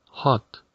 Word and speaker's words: hot: está caliente, en inglés hot. Ahora bien, antes de continuar, hay que evitar pronunciar esta palabra como hot, ya que la letra O se pronuncia como una A. Hot, hot.